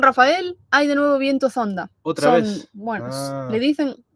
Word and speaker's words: zonda: Dice Silvio, hoy en San Rafael hay de nuevo viento zonda. ¿Otra vez? Bueno, le dicen, claro, es viento zonda con Z, pero aquí lo pronuncian sonda.